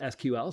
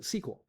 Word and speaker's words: SQL: Some people pronounce it SQL. Some people pronounce it SQL.